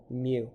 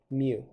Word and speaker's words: mu: it's the greek letter mu i'll even try and make that a little bit nicer just like that okay and that we pronounce as such mew you might also hear it as mu so make the cat